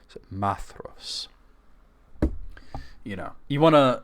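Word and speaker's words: Maedhros: you know it's maos it tells you the AE there's no sort of accents on them so it's like a a like cat and then the DH is like a soft th as in Father maos you know you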